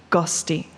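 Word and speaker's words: ghosti: guest originate from a single proto-indo-european root word gusti and before you ask it is spelled g-h-o-s-t-i it roughly translates to someone with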